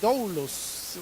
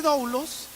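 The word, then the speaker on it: δοῦλος: es una palabra que en griego se dice doulos, o alguna cosa así se pronuncia. Pero ese doulos en realidad no quiere decir siervo, sino que la traducción correcta debería ser esclavo.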